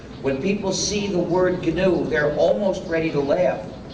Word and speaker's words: GNU: so it's not new anymore but it is canoe and it will always be to do so please pronounce it carefully there is another pronunciation error